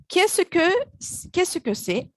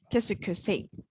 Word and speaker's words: qu'est-ce que c'est: When pronounced, it is completely run together, so it sounds like qu'est-ce que c'est. It's pronounced a lot shorter than it looks. And if you try to pronounce it like it reads, you may not be understood.